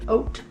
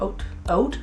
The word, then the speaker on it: Haute: It is the CoverGirl Lip Perfection Jumbo Gloss Bomb in Oat Pink Twist. I'm pretty sure it's supposed to be hot pink twist, but it's spelled like H-A-U-T-E, like oat, like haute couture.